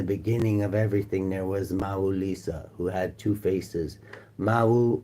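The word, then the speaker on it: Mawu-Lisa: Mahu Lisa, pronounced Mau Lisa, is supreme being with origins in the ancient West African kingdom of the homie and is neither male nor female.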